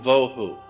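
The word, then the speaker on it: בהו: Vohu would be V-O-E-W-H-O, tohu, vohu, waste, desolation.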